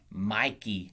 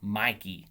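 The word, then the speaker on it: Michie: but it's army with mikey stadium i believe is the correct pronunciation i know it's spelt m-i-c-h-i-e but i believe the correct pronunciation is mikey stadium home of the army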